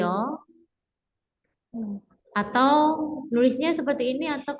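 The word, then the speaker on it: ㅛ: Jadi ini huruf Yo, pengucapannya seperti ini Yo.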